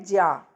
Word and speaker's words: ज्ञ: हमने बचपन से क्या सीखा, ज्ञा से ज्ञानी, पर इसका उच्चारण क्या है, ज्या। ज्या इसका उदाहरण है, ज्या। इसका उच्चारण आधा जा प्लस या, तो ज्या बोलेंगे इसको।